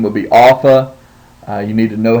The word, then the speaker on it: alpha: So, for example, the name would be Alpha. You need to know how to write the Alpha in lowercase, and then that it is pronounced like Ah and Father.